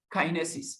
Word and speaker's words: Kinesis: search becomes your go-to service then all right Kinesis that's the pronunciation now we'll take a look at them